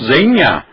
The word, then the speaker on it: Zegna: Você comprou aquela roupa no Hermenegildo Zegna? Não, você comprou no Hermenegildo Zenha.